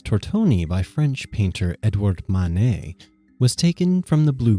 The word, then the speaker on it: Manet: the first floor and no i did not pronounce that wrong this is manet which some confuse for claude monet who was the super